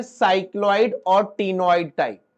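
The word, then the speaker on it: ctenoid: बोनी में लिखो साइक्लॉइड और टीनोइड scales are present. C silent है उसमें।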